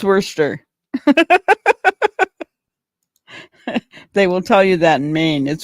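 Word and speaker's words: Worcester: Warchester. Sure. It's worster.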